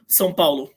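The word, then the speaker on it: São Paulo: how do you say how do you say where they're playing the city in which they're playing s Palo sollo okay good at least I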